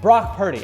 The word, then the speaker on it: Brock Purdy: quarterback on his team his name rhymes with rock sturdy Brock Purdy I'm talking about Brock